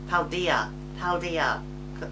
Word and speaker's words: Paldea: I definitely said it wrong that time. Paldea. There we go.